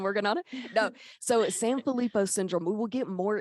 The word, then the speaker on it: Sanfilippo: much I've been working on it no so San felipo syndrome we will get more into that as